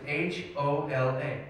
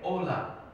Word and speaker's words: hola: in spanish it was h-o-l-a ola but i did not know you don't pronounce the h so everybody i saw